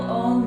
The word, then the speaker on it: Om: And the final sound of Om is the It's a nasal M sound, like in yum, yummy.